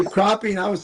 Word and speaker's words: crappie: no, that's the right spelling, but the wrong pronunciation. Oh, call Yeah. them crappy. Crappy, Crappy. crappy, crappy. You Heck, say crappie, and I was saying Yeah.